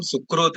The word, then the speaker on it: सुकृत: Spelling is my spelling is like that because अपन क्या है श्री कृष्ण बोलते हैं ना, स्पेलिंग ऐसे लिखते हैं अपन KRI, बट we pronounce it एज KRU.